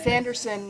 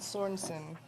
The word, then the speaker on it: Sanderson: It's Sanderson, not Sorensen. Sanders.